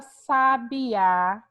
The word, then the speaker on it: sabiá: Então, ó, sabiá, o A é a sílaba tônica, e a gente vai classificar como?